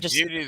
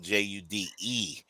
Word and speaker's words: Jude: And Judy that we're talking about, guys, her first name is spelled Jude. And she's so you awesome. might say Jude. It's not. You can call her Jude. She'll answer, but it's Judy.